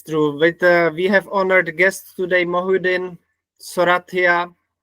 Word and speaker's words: Mohyuddin Sorathiya: With honored guests today, Moin Soratia, it's correct pronunciation. Yeah. Yeah, that's correct.